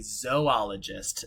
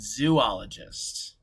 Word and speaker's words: zoologist: Well, first you'd have to learn how to say it correctly, Luna, because it would be zoologist, not zoologist.